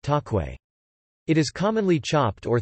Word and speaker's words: cakwe: In Indonesia, the fried dough is known as kakwe, pronounced takwe.